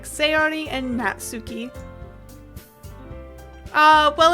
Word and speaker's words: Natsuki: back towards the other girls anyway this is nasuki always full of energy I'm checking that name actually natsuki heard it here thank you YouTube pronunciation anyways